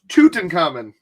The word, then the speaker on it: Tutankham: that's just sweet oh so that's pronounced tootin common tutankham lance says between